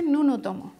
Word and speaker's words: ন্যূনতম: এখানে তোমার নিয়ম হচ্ছে প্রথমে জফলা উজ্জ থাকে, প্রথমে জফলা উচ্চারণ করতে হয় না কিন্তু পরবর্তীতে করতে হচ্ছে।